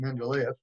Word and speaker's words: Mendeleev: It's in the late 1800s, and it was Dmitry Mendeleev. Some people pronounce it Mendeleev.